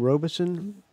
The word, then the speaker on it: Robeson: Is that how you pronounce his name, Robeson? That's right, yes.